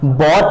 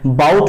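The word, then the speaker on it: bought: उसी प्रकार बाई का बॉट होता है, बाउट नहीं होता।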